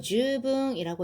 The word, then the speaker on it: 十分: 자, 얘를 줍이라고 읽으면요. 요거는 시간을 말하는 거예요. 10분입니다. 요렇게 장음으로 주이라고 읽으면 충분하다라는 뜻입니다.